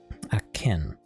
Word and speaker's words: Aachen: The next one after that is akin, but it's spelled AACHEN.